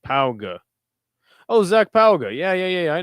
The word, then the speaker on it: Pauga: Zach Paug, pronounced Pauga.